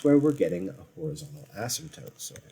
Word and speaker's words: asymptote: we're getting a horizontal asymptote so horizontal asymptote the p is silent asymptote if you can kind